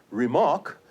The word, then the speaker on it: remark: Whereas if you talk about a remark, and please note that the stress is now on the second syllable.